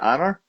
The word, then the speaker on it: Onur: Onar, I uh, well well, first off, am I pronouncing that right? Is it Onar? Is it Honor? Honor, like honor, Onard.